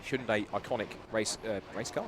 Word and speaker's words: Hyundai: So the field now neutralized just stacked up behind the Hyundai Hyundai should say it right. Hundai iconic race uh race car safety car and just a bit of a spite here.